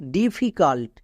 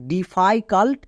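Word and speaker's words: difficult: long sound I হবে কিন্তু একে আমরা উচ্চারণ করি ডিফিকাল্ট একে আমরা ডিফাইকাল্ট এরকম উচ্চারণ করি না কেন করি না এখানে আই রুলস কাজ করছে না এর ক্ষেত্রে নিয়ম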